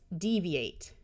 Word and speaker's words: deviate: Note that an I before an A, O, or U usually has a long E sound. That's why it's deviate.